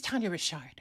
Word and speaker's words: Tania Richard: like someone mispronounces it people will be like that's it's Tanya Rashard you know what I